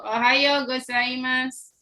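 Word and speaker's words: おはようございます: Ohayo gozaimasu. Tolong diucapkan.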